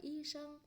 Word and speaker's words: 医生: Bác sĩ chúng ta sẽ đọc là y sinh, chào y sinh là